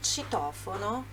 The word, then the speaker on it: citofono: Então, ó, entre a sacada, il balcone, é a sacada, il citofono, é o interfone, citofono, olha a pronúncia aqui do CI, citofono. CI, CE, você lembra? Ci e ce.